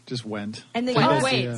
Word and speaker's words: Wendt: talk about his feelings towards me exclusive went is that the table - how are you say your last name yes Alan t just went and then go away silent D went yeah